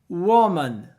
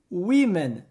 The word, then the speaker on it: women: que confunde algumas pessoas o plural não é wom e sim Women sim o som do o vira um som de i e o som de a vira um som de e Women não precisa de